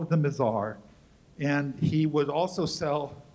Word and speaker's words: Mizar: called it them what's how do you pronounce m i z a mizar not the misar mizar mizar the misar which is the star in the handle of the Big Dipper not a very good